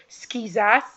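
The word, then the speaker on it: Schizas: skizas in seventh place I will not get that name wrong because you guys told me how to say it skizas mateline skizas in seventh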